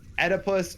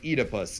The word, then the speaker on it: Oedipus: to get word later if it's Oedipus or eat a puss cuz I gotta tell you I was looking at pronunciation before and both are technically correct but uh but it's